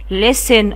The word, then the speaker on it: listen: انا قلت له له ال لس لس اي لس اس listen. قلتيلي خلي بالك يا ميس ان انا بقول listen ما بنطقش حرف تي، بس انا لازم احطه في ايه، في مكانه.